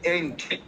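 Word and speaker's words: ain't: জি জি হ্যাঁ, ইউএস আর হচ্ছে ইউকে, আর হচ্ছে এইটা হবে এন্ট, AINT, যেটা আছে কন্ট্রাকশন, জি এন্ট উচ্চারণ হবে আর কি।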